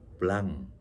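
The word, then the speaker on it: blanc: 그다음에 화이트 와인은 뱅 블랑. 마지막에 C 발음은 안 합니다.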